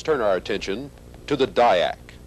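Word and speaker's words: DIAC: attention to the Dayak the letters in the word Dayak may have originally stood for diodes and AC current but if so that distinction has been lost with usage today Dayak and triac are pronounced as words and the letters don't really stand for anything the Dayak is a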